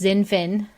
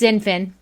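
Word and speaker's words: XinFin: is the XDC token, which is, I believe, pronounced Zinfin. I never know how to pronounce words that start with X other than X-ray. So I think it's Zinfin.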